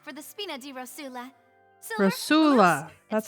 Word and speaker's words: Rosula: Rosula.